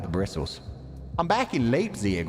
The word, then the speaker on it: Leipzig: We are in state of it is pronounced Leipzig.